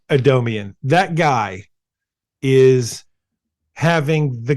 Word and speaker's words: Adomian: James adom Adomian adamian James Adomian is how you pronounce that Adomian that guy is having